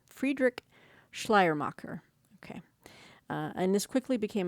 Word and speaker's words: Friedrich Schleiermacher: Let me repronounce his name. Friedrich Schleiermacher.